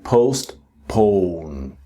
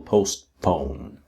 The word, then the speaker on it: postpone: And then postpone. See that last syllable postpone.